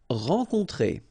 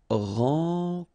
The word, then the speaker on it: rencontrer: Rencontrer. Alright, so keep in mind. E-N, en, O-N, on, rencontrer.